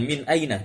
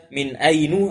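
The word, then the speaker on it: مِنْ أَيْنَ: ar sehingga bentuknya demikian Min Aina tidak ada dibaca Min Ainu atau Min Aini sehingga membacanya langsung Min Aina Anta Dari mana asal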